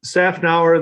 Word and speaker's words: Szafnauer: Szafnauer, the Z silent. It was added by the Hungarians when my grandfather moved over from Romania, which was Hungary at the time. But it doesn't belong there.